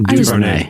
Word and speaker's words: DuVernay: DuVernay, yeah.